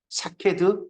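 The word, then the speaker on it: שָׁקֵד: 샤케드, 샤카드.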